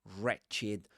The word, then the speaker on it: wretched: You don't say wretched. My students usually try to pronounce the w at the beginning, but you have to say re- wretched or right, wrote, wrong, wrist, you know?